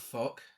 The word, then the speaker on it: Fouke: Yeah, the group heads for an area near Boggy Creek, close to the town of Fuck. It's spelled Fouke.